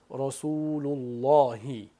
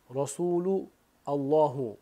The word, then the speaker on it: Rasulullohi: Endi huddi shu sözünü, Allohu sözünü biror bir sözden so'ng unga qo'shib telaffuz etsek. Masalan, Rasulullohi desek, Rasulullohi desek, bunda hamza tushib qoladi. Rasulu Allohu bo'lmaydi.